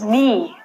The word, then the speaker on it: knee: But when you say it, take the silent letter out. Next one is knee.